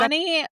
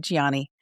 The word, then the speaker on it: Gianni: Is So it she's got Johnny or it's Gianni? Gianni. It's spelled Okay. Gianni. So it sounded like they said Johnny, but Gianni.